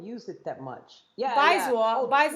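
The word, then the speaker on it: 白左: Bai is white. Yeah. By second tone Baizwar. It's like slang. It's been slang since 2015. White something. Zwa is left. They don't use it that much. Yeah. Baizwar.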